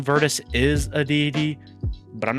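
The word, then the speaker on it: Virtus: I think they're talking about Verdice, which is spelled V I R T U S.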